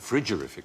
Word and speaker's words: frigorific: spelled should pronounce yes cold should pronounce it frigorific probably it just means causing